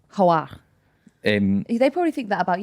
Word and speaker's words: Hoare: It's actually pronounced Hoare. Hoare.